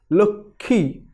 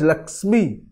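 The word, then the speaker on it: লক্ষ্মী: form and its pronunciation, because the word medial pronunciation grapheme cluster Kha is normally pronounced as Kha in place of original Ksa. Thus, the word is pronounced as Lokhi and not as Lakshmi.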